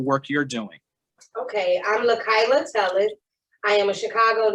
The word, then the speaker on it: LaKyla: Next up, we have LaKyla. Did I pronounce that correctly? LaKyla.